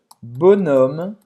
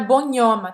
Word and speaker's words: bonhomme: Não é bonhomme, tá? Esse H é mudo.